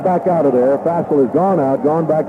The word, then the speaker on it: Fassel: Jones in, Fassel out at quarterback for Southern Fassel is pronounced? Fassel, Van, he's a boy from Anaheim, California.